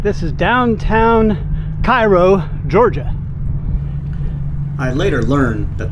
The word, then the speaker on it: Cairo: right this is downtown Cairo Georgia I later learned that the proper pronunciation is Koo like Koo syrup it's like an old